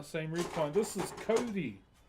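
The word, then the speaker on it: kauri: This is Kodi. K A U R I but you know pronounced like the name.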